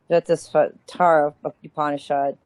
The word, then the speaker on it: Svetasvatara: Svetasvatara Upanishad.